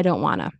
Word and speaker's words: don't wanna: Nah, I don't want to, or I don't wanna. No, I don't wanna. I don't wanna. And don't, remember the glottal stop? Don't wanna.